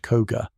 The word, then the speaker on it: Koka: Imagine the mountainous regions of Japan, particularly the provinces of Eager and Koka, often pronounced Koga.